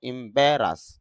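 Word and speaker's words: embarrass: বলব তখন উচ্চারণটা হবে ইমবেরাস কেন ব্যারাস ব সাউন্ডের উপরে একটা ফোটা দেওয়া আছে এটা হল স্ট্রেস সিম্বল অর্থা অর্থাৎ চাপ দিতে হবে। তাহলে এখানে যদি চাপ দেই উচ্চারণটা হবে ইমব্রাস।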